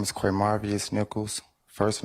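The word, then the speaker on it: Qmarvious: ] take that goddamn plea deal up here spell it for this young lady right here okay my name is qu marvus Nichols first name q m a r v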